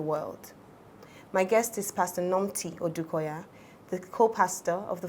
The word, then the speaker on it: Nomthi: For those wondering why I said I got it, so Pastor Nomthi's name is a TH. So don't, if you know her, don't say Pastor Nomthi, because that's the Nigerian way to pronounce it.